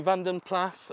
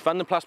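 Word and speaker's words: Vanden Plas: will rage forever of whether you pronounce it Van den Pla or Van den Plas. I am assured by very good people with great authority that because it's a Belgian origin name, it is Van den Plas, and I will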